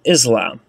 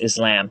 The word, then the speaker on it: Islam: something that comes from Islam. Yeah, well, it's actually pronounced Islam.